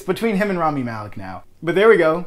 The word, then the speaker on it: Rami Malek: Rami Malek. I'm going to say it right this time. If that was wrong, please correct me again. It's between him and Rami Malek now.